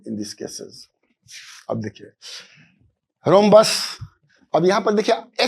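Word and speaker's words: rhombus: are equal similarly in this cases अब देखिए रोम्बस अब यहां पर देखिए H को साइलेंट बोलते हैं रोमबस अब बच्चे घबरा जाते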